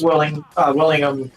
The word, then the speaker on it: Willingham: I said, dude, I seriously hope Travis Willingham, how do you say his last Willingham.